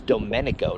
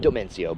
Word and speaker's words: Domenico: His name is Domenico, not Domencio, but Domenico.